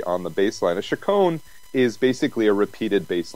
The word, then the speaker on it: Chaconne: Is it pronounced Chaconne? Chaconne. Chaconne, right, yeah.